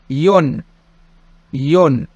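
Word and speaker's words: よん: رقم 4 شي. وممكن أقول يون.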